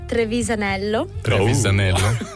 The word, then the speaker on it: Trevisanello: she's from please so actually my surname is trevisanello yeah and everyone in Italy is saying oh